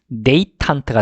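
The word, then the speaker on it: détente: deputy 대리인 이런 뜻이고, 그 다음에 여러분 그 데탕트란 말 들어보셨죠? 영어 발음은 데이탄트가 됩니다.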